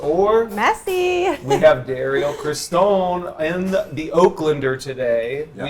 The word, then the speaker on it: Christon: Christian? Christon.